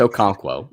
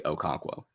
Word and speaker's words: Okonkwo: look it up right now I mean it's Okonkwo I know how to say the last thing first name I'm just I'm gonna try uh on Twitter he said just call him chig Okonkwo so all right uh 18.5 points caught